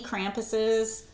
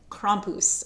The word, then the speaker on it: Krampus: There were so many Krampuses. Okay, Krampus. I have a friend from Austria, and it's actually Krampus. Something like that. Krampus, as the Americans say. We say Krampus.